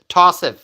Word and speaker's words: Tossi: it's pronounced yeah yeah tossi that's exactly how it's written that's exactly how you say tossi um Pamela writes here